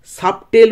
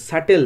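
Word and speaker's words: subtle: করে সূক্ষ বা তীক্ষ্ণ সাবটেল উচ্চারণ করবে না বিটা সাইলেন্ট থাকবে সাটেল মানে হচ্ছে তীক্ষ্ণ বা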